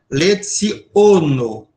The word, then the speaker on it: leciono: Todas as palavras recebem o acento quando ela tem mais de uma sílaba, evidente, na segunda sílaba de trás para frente, a chamada penúltima sílaba, tá legal? Então, ó, letsono, uno, tá OK? Sempre. Então, nunca vai ser leiono, não existe palavra proparoxit esperante, nem lecionou, nem uno, é leciono uno, tá?